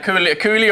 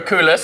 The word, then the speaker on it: coulis: A coulis or a coulis, however you want to pronounce it, it's absolutely fine. You know, we're not going to judge you on how you pronounce coulis or coulis.